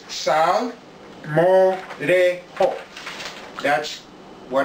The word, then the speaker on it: salmorejo: it than I will this is the word simoh dejo where jake has a Spanish as a Spanish sure of Jay to it if you were to do it phonetically is sound more today oh that's what it's